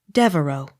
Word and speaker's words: Devereux: Devereaux. The X not sounded.